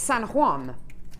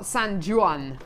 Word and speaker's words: San Juan: rioka and and and if you fly to San g j u a an it's San Juan not sanjan anyway does matter a